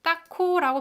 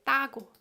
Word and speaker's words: 따고: 이상하게 따코라고 발음하지 않고 we don't pronounce it 따코, we say 따고.